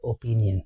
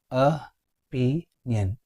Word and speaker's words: opinion: It is a 3-syllable word. Okay. Opinion. The stress is on the 2nd syllable. Opinion, not opinion. Opinion is absolutely wrong. You have to say opinion. Repeat after me. Opinion. Opinion. Here have you noticed both O's? The first O and the last O. Both are schwa sound.